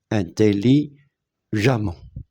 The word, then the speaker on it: intelligemment: e nt intelligemment et le E nous avons dit qu'il se prononce a intelligemment ok infini il se